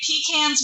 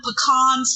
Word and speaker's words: pecans: so true sorry just my grandfather would say peans when you pick them pecans when you sell them